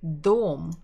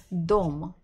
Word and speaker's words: дом: Next one is the дом. Only one syllable.